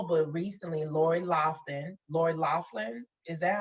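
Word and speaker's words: Loughlin: you all know but recently laurie lofton laurie laughlin is that how you pronounce her name that's that's right lori laughlin now i don't know if you all know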